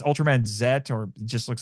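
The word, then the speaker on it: Ultraman Z: not, there's actually an Ultra Series with It's Ultram Man Zet or just looks like a Z, but it's supposed to be pronounced Zet.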